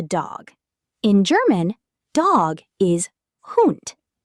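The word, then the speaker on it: Hund: The dog in German dog is hoot. Say it. Hoot sounds a bit like hoot.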